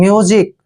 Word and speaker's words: music: जब भी S से पहले U आता है और S के बाद I आता है तो S का उच्चारण जय करते हैं। म्यूजिक, म्यूजिक होता है संगीत, म्यूजिक मीन्स संगीत, ठीक है ना।